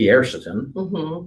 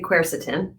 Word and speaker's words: quercetin: So it is called, now, some people call it quercetin. I say quercetin. Okay. And then I have a friend who says quercetin. Okay. So I can pronounce quercetin.